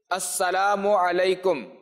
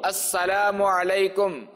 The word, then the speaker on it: السلام علیکم: سن لے۔ سلام اور جواب سلام کا درست تلفظ یاد فرما لیجئے، جیسے ابھی میں کہتا ہوں آپ سن لیجئے اور دہرائیے۔ السلام علیکم، السلام علیکم، السلام علیکم۔ اچھا، اب جو ہے وہ میں جواب کہتا